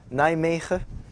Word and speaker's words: Nijmegen: This is pronounced Nijmegen.